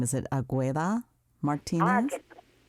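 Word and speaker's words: Águeda: Now tell me if I mispronounce her name. Is it Agueda Martinez? Ageda. Ageda.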